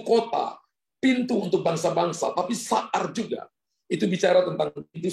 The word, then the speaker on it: sahar: Kata gate di sini, pintu, dari bahasa Ibrani itu sahar. Sahar, saudara ya.